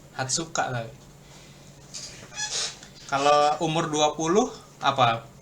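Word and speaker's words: 二十日: Ini 20 beda sendiri bukan niju niju nici gitu. Hatsuka tapi kalau umur 20 apa putri?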